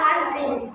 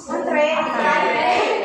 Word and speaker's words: antre: Karena sebenarnya menurut KBB itu adalah antri antre yang yang benarnya.